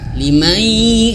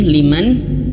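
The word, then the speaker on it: لمن شاء: Nah, jangan sampai kita membaca ikhfa huruf shin kayak gini liman, tapi bacanya hanya sekedar dengung saja. Liman, liman. Nah ini keliru ya. Lebih tepatnya itu harus mendekati ke makhraj ya. Limai gitu ya.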